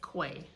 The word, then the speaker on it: Cuay: I say it you know so it is Quay and so my goal for this word is